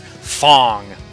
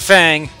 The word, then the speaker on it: F.A.N.G.: wrong the whole time it's Fong not Fang not foong not fing Fang Foom Fong like thong but in there oh